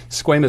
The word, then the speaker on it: squamous: How do you pronounce it? Squamous cell carcinoma.